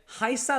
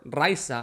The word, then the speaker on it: Rayssa: On a different subject, Rayssa Leal, or Rayssa, I know it's spelled with an R, but many Brazilians pronounce it as if it was like an H or J sound. Rayssa Leal, superstar.